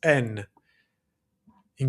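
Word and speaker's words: νι: And like I said before, this in Greek is the lowerase N. In Greek, we pronounce that ni.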